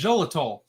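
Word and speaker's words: xylitol: pronounce that right as xolitol something like that I'm pretty sure X is a z uh sound anyway we have one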